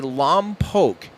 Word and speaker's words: Lompoc: or lone poke I I hear most people locally say Lam poke but it's too they're